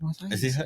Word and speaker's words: Asahi: I forgot to read Asahi. Is that how you pronounce it? Yeah, dry beer, but I love it.